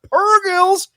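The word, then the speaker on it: purrgil: as well we got hyperspace Rings we got pergols and that's how you say it no hard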